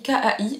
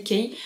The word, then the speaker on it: Kai: k parce que moi ça s'écrit K a I je disais Ky et en fait c'est Kai apparemment qu'il faut dire j'ai